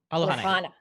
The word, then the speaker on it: Alohana: Alohana. Alohana. A hard H.